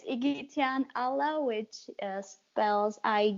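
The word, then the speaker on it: Igityan Alla: easiest thing to remember but it's trying to pronounce it i couldn'so yeah it's iggy tian allah which spells i i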